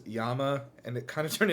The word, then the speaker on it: llama: Um which probably supports the idea that the original pronunciation was yama and it kind of turned into glama as it was moved around.